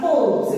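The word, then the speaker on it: Kolbe's: It is to be pronounced as the Kolb's reaction.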